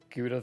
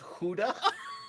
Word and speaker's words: Gouda: it's pronounced Huda? Wow. That I agree with. Howda? Dang. Howda? Gouda? It's pronounced... Gouda? You know, I'm going to keep calling it Gouda.